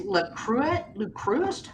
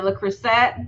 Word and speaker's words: Le Creuset: And then the other one is Le Cruist. How do you say that? That makes the fancy cookware. Oh, the Le Creuset.